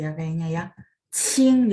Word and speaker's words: qing: Qing, jadi bacanya Qing.